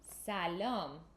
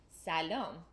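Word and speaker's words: سلام: in Persian the way you say hello is Salim so long that was great pronunciation and hopefully you got that along with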